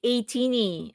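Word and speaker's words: ATINY: Ah, you pronounce it atini.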